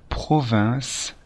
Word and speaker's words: province: voiture en province attention il faut bien prononcé province et ne pas confondre avec la provence la provence qui est une région du sud de la france la province c'est